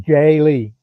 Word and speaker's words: JALE: Y'all, please, anybody else understanding the J A L E is pronounced like Jay Lee, like J A Y L E, but it's a play